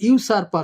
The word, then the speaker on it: usurper: এখানে ইউ উচ্চারণ হচ্ছে ইউসারপার, সেজন্য এ হলো, ব্ল্যাঙ্কে এ হলো।